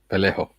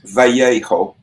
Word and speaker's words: Vallejo: Vallejo. Well, but in European Spanish, that's Vallejo, but in Caribbean Spanish, it would be Vallejo.